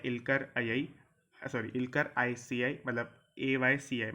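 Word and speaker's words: Aycı: इनका नाम है इल्कर ICI, मतलब AYCI। मैं आपको स्पेलिंग बता देता हूँ, AYCI।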